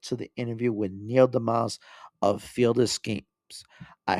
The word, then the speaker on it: deMause: Neil deMause, did I pronounce your last name correctly? deMause. It's no reason to deMause. expect it to be pronounced that way, but that's how it's pronounced. Neil deMause.